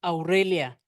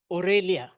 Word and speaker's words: Aurelia: say my name my name is Aurelia or they say aelia aelia uh principal